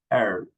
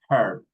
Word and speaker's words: herb: For example, in this one, in this one, the American people doesn't pronounce the H. British people, they pronounce the H like herb. No, in America, herb. In British, herb.